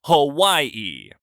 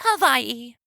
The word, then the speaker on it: Hawaii: Honey, I'm pretty sure it's pronounced Hawaii. You know, with a W sound, he says, trying to sound casual but unable to resist correcting her.